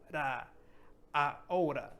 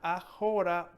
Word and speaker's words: ahora: Ahora. It's not ahora, but it's ahora.